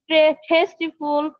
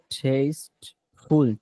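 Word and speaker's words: tasteful: This is very টেস্টিফুল food. এটি একটি খুব সুস্বাদু ফল। দা ফ্রুট ইজ ভেরি টেস্টিফুল। ফলটি খুব শব্দের উচ্চারণটা হবে টেস্ট ফুল। টেস্টিফুল না। শেষে তয় অসীকারটি এটা হবে না। টেস্টফুল। টেস্টফুল।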